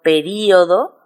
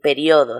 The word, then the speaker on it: periodo: O por ejemplo, período. Se recomienda acentuar, pero también puedo decir periodo sin acentuación.